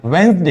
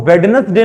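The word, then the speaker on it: Wednesday: आता है वेनसडे वेनसडे इसको हम क्या पढ़ते हैं वेनसडे यहां पर भी डी क्या है साइलेंट है इसको हम वेडनेसडे नहीं पढ़ेंगे छोटे बच्चे अक्सर इसको प्रोनाउंस करते हैं वेडनेसडे बट नॉट वेडस डे इट्स वनस डे D silent there even ई अभी हमारे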